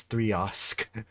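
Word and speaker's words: 3xOsc: by the by the gods themselves the official pronunciation of this baby is three osk I didn't know that it was actually pronounced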